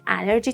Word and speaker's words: allergy: Pronunciation point. Allergic starts with a schwa sound. Then allergy and allergen start with an a sound. Allergy. Allergen.